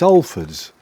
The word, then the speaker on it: Halfords: How we pronounced Halfords or Halfords. Halfords. It's Halfords.